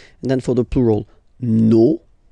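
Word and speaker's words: nos: Okay, so remember, even if you've got this final s, you don't pronounce it, as it was the case already for this word, no, you don't pronounce the final s, vos, you don't pronounce it, leur.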